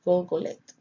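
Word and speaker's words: Gulgoleth: It is pronounced there as Golgoleth and spelled Gimel Lamed Tav, or GLGLT.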